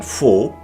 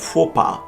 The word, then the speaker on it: faux: Its silence seems perhaps calculated in faux and faux pas.